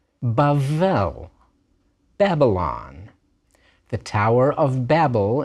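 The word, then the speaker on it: בבל: letter b a bet without a d is pronounced like our letter V so bavel Babylon the Tower of Babel in Genesis 11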